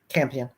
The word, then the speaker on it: Campion: I'm hoping, as you know, Jane, how do you pronounce her name? Campion.